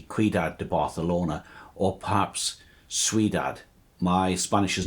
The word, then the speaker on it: Ciudad: de Barcelona, or perhaps Ciudad. My Spanish is not great, I'm trying to learn how to pronounce all of these words properly. I think it should be Ciudad with Z for Zulu sound.